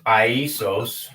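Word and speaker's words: Ἰησοῦς: Okay, because in Greek, Jesus's name is pronounced Iesous.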